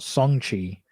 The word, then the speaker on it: Shang-Chi: Well, technically, you big racist, it's pronounced Shang-Chi.